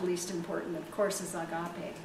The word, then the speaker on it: agape: So, lastly, but not the least important, of course, is agape. Some people pronounce it agape, but either way, it's A-G-A-P-E.